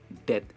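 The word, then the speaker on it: death: Love, in control, in डेथ। इसकी pronunciation है डेथ एंड नॉट डेप्थ, भी इसमें साइलेंट है।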